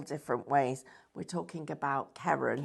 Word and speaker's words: Karen: I'm used to it being spelt all sorts of ways and answering to pronounced all different ways. We're talking about Karen. Karen, yes, not Karen.